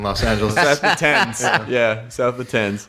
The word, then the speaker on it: Thames: It is very funny to say to mention people being south of the Thames.